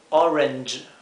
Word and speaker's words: Orange: es Orange Orange y fíjense que la G con la e per produce este sonido que no existe en el español que es J J entonces decimos Orange Orange para uvas tenemos Grey